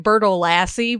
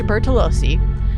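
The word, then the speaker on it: Bertolacci: I kept saying it Bertolassi, but that is such an American, flat pronunciation. Bertolassi? Bertolassi. Bertolossi. George Bertolossi. George Bertolossi. Georgia Bertolozzi, an Italian, I think. She married George Bertolozzi.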